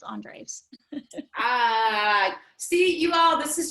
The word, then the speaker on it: Andres: And Brandi, do you say your name Andres or Andreas? How is that pronounced exactly? You got it right the first time.